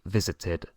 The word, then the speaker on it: visited: t o de del verbo solo se puede pronunciar de esta forma I visited Porque si intentas decirlo de otra forma es